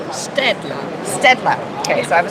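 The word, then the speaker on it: Staedtler: Stedler.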